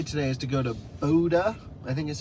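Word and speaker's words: Bodø: for the day today is to go to Boda I think is how it's called or Bodo but I think it's actually pronounced Buddha something like that anyway all the way up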